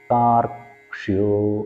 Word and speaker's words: താർക്ഷ്യോ: ഈ കൂട്ടക്ഷരങ്ങൾ വരുന്ന സ്ഥലത്ത് ഓരോരോ അക്ഷരങ്ങളും നമുക്ക് പ്രകടമാകുന്ന രീതിയിൽ ആയിരിക്കണം അതിൻ്റെ ഉച്ചാരണം വരുന്നത്. അപ്പോൾ ആ ഒരു താർക്ഷ്യോ എന്നുള്ളതിൻ്റെ അത് ക് എന്നുള്ളത് അവിടെ ഉണ്ട് എന്നുള്ളത് മനസ്സിലാകും വിധമായിരിക്കണം അതിൻ്റെ ഉച്ചാരണം.